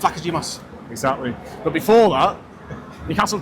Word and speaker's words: Vlachodimos: Do you want to pronounce his name? Vlachodimos. Honestly, it's Vlachodimos.